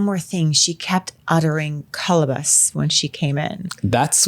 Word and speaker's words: Kolobos: of the movie exactly like colus you mean colobos colobos maybe is that like the California way to pronounce this so it's cabus apparently and we Flash back to our contestants